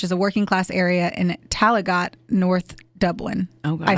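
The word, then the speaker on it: Tallaght: I just throwing Direction t l l a g HT like talget T yeah that's what it is uh Kathleen was married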